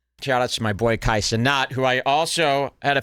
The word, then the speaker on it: Kai Cenat: Kai Cenat. How do you say his name? Kai Cenat.